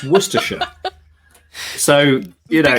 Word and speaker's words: Worcestershire: struggle with um uh worse esther ashaya is a very common mispronunciation it's worcestershire and so which the worcestershire